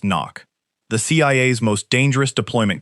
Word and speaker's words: NOC: NOC. Pronounced knock.